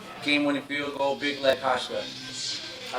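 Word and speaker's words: Hauschka: Did I say his name, Kasha? Hashka.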